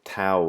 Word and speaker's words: Tao: years by then called the Dow of physics or the Tao of physics if you want to pronounce it that way and Tim was talking